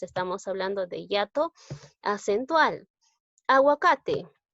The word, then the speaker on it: aguacate: Aguacate. Agua, en este caso sí estoy pronunciando la U, ¿no? Aguacate.